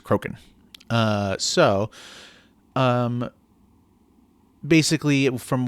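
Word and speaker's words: Crochan: I always uh pronounce it Croin. Um but I do know now that it is Croken.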